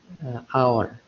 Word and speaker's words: hour: لاحظ إني نطقتها honest. أوكي، فإذا نفس الشيء أستخدم معها an. إذا عبرة في النطق وليس بالكتابة، ولا الكتابة تبدأ بحرف H. إن تنطق هذا حرف صامت فين تنطق honest hour.